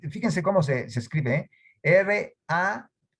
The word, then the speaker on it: Rahab: Rahab, fíjense cómo se escribe, R-A-H-A-B, B grande, Rahab, por eso es que se pronuncia así.